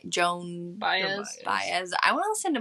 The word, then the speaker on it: Baez: Baez.